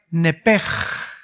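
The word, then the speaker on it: נפש: En otras palabras, esa palabra vida es la palabra hebrea nepej. Se escribe nepesh, que es la palabra que se le da para el alma.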